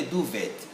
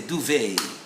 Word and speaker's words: duvet: is written like this is it a duvet no it's not a duvet it's a duvet have you heard that british do right now get the american sound do they you see the stress moves to the second syllable even these dancing things